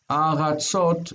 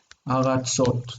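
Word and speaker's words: ארצות: The stress is on the end of the word, like Ward has just pointed out. Eretz, aratzot. We don't normally mark word final stress, so we don't really need it, but it's aratzot.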